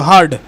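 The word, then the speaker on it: heard: দট কাননট বি হারড উচ্চারণটা হেয়ারড না কিন্তু হারড নেক্সট কোশ্চেন তার আগে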